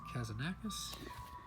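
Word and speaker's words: Kazantzakis: Last Temptation of Christ by Nikos Kazanakis.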